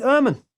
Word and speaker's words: Ermin: audio so without further Ado let's chat with Herman thank you so much for that grand welcome